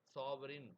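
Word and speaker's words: sovereign: அதே மாதிரி சாவரின் அதுக்கு நம்ம ஸ்பெல்லிங் பார்த்தோம்னா சாவரீன் அப்படின்னு எழுதுவோம். அதோட ப்ரொனன்சியேஷன் என்னன்னா சாவரன். அதே மாதிரி ஆர்டிக் அந்த ஆர்டிக்ல சி சைலண்ட் அதனால ஆர்டிக் அப்படின்றதுக்கு ஏஆர்டிஐசின்னே எழுதுறாரு.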